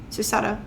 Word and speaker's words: Susato: Poor Susuda-san. Susato. I always say it wrong.